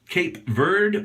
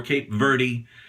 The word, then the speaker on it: Cape Verde: nikki lee soap works cape verde or cape verde is proper either way anyway it was inspired